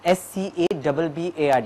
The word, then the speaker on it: scabbard: SCABBARD. It is how is it pronounced? Kabard.